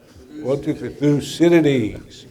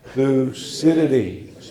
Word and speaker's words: Thucydides: So in unison, 1, 2, 3, we're going to say, 1, 2, 3, Thucydides. One more time, Thucydides.